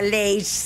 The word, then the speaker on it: lash: Lash, claro, pero se pronuncia Leish.